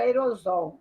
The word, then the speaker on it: aerossol: com aerosol ou aerossol a gente pronuncia sempre aerosol mas se escreve com dois s né empecilho comente já